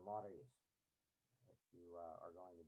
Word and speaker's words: Maori: When you say that, you got to roll the R, right? Ordinarily, I would say that don't try that at home, right? Leave that to the professionals. But um, you need to learn how to pronounce the Maoris if you are going